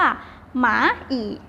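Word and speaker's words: 蚂蚁: มด คำ นี้ นะ คะ ออก เสียง ว่า หมา อีก หมา อีก อ้าว มา อีก แล้ว ว่า มด นะ คะ หมา อีก อ่า นั้น กำลัง แสง ตลอด ซื้อ นะ คะ หมา อีก อีก ครั้ง นึง ค่ะ หมา อีก อ่ะ ออก เสียง ยาก นะ คะ นิด นึง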